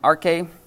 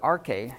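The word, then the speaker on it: ἀρχή: So it means beginning, but think about the word, arche. It sounds weird, doesn't it? It sounds like archaic.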